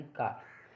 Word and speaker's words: calf: अब एफ से पहले अगर एफ से पहले एल आ जाए तो वहाँ पर भी एल साइलेंट रहती है। जैसे CALF, यानी काफ, यानी कि इसमें एफ से पहले एल साइलेंट है आपकी।